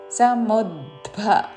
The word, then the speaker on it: సముద్భవం: తృష్ణ సంఘ సంఘ సముద్భవం సముద్భవ ద కి మహాప్రాణ అక్షరము భవత్తు సముద్భవం చివరిలో పొల్లు తృష్ణ సంఘ సముద్భవం తన్ని